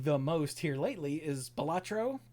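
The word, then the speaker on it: Balatro: Uh the one that I've been playing the most here lately is Bolatro Batro, however you say it. Whenever anyone asks the the creator, Local Thunk, he says it's pronounced bellatcho, but he types it out.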